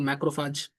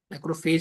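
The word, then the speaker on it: macrophage: देखो फगोसाइटिक सेल्स आपने पढ़े होंगे कि जैसे कि मैंने एग्जांपल पढ़ाया था आपको मैक्रोफाज है ना? मैक्रोफाज मैक्रोफेज भी बोल सकते हो। बट मैक्रोफाज मेटल प्रोनाउंसिएशन है।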